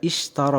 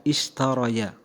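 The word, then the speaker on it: اِشْتَرَى: Yang harusnya istaroya, tetapi ingat di situ bukan ya. Ishtara, ra, itu berarti alif. Maka cara membacanya adalah ishtara, bukan istaroya.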